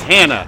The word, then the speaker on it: Hana: And I know it's Hannah. Damn it. I was trying to be culturally sensitive. People were calling her Hana. I assume that's how you pronounced her name. But I guess it's plain old ordinary Hannah.